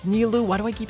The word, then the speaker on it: Nilou: Or Nilou? I've been saying it wrong the whole stream. It's Nilou.